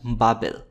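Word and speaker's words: בבל: BBL হিব্রুতে উচ্চারণ করা হয় বাবেল।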